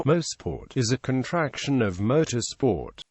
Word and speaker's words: Mosport: The name Mosport is a contraction of motorsport came from the enterprise form to build the track. It is pronounced is the two words actually sound. Most sport history.